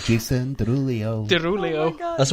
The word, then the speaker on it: Derulo: I think I add an extra L-I-O. in. Jason Yeah, you- Derulo. Derulio. Jason Derulo. Derulio. That's what I say, Jason Derulo.